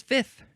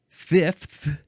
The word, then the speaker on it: fifth: the next word is fifth here we go fifth you could you could pronounce it Fifth with just a th you can say fifth with an f and